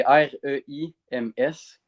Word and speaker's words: Reims: ils disent d'une autre façon que de la façon que c'est écrit. Là. OK. C'est R-E-I-M-S.